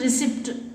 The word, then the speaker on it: receipt: in the word receipt the letter p is silent in receipt how do you pronounce it receipt is not pronunciation the